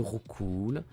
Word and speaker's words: Roucoups: Avec le Rattata, le Roucoule, le Chenipan. Donc, Roucoule va aller en F. On a Roucoups. Le fameux Roucoups qui devrait se prononcer Roucou.